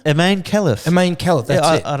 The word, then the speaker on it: Imane Khelif: But Imane Khelif, is it the boxer?